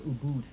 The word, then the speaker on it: Ubud: the guy was like oh boom so it's Ubud that's the only person I heard oh no that's how you pronounce it it's not oh like Buddha what's